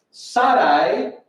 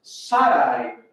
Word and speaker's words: Sarai: Sarai, su mujer, y no tenés Sarai, no Sarai, porque no tiene acento en la I, y no es Sarai, porque no tiene acento en la última A, y es un diptongo, es Sarai.